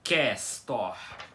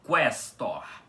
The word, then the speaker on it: questor: Então aqui vocês podem reparar que não é questor com que no início, e sim questor com que. O u é pronunciado, tá? Para formar uma sílaba.